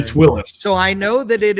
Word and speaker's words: Willys: Newburn says, "Is it pronounced Willis or Willies? It's a big argument." And you are correct, New Willis.